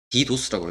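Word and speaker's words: DDoS: 디도스라고 읽어요.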